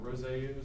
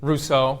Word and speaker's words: Rousseau: Um So, Hobbes believed that it was chaos and uh Roseau, how do you say it? Rousseau.